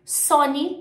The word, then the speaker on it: Sony: A pronúncia em inglês é Apple mesmo, tá? Apple. Sony também é super parecido, Sony, Sony.